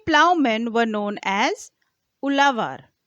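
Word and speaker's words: uzhavar: men were known as ulavar ulavar ulavar the spelling of ulavar is is u z h a v a r so Zed H is pronounced as l in South Indian languages landless laborers including slaves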